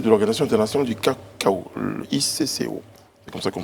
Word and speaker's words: ICCO: Alors, je le disais tout à l'heure, vous êtes président du Conseil de l'Organisation internationale du cacao, l'ICCO. C'est comme ça qu'on prononce.